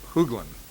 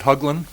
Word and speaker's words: Hugin: speaker is uh Greg hugan I just butchered his name I'm sure hugin is it hugin yes it is thank you um morning